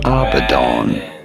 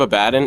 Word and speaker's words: Abaddon: Go about pronouncing it Abaddon.